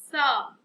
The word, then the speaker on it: psalm: This one example, psalm. We don't say P, psalm, just psalm. So letter P is a silent letter.